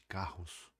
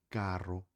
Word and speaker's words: carro: porque se escreve igual, só que se fala com dois Rs. E palavras com dois Rs no espanhol fala igual que palavras que comecem com R, fortes e vibrantes.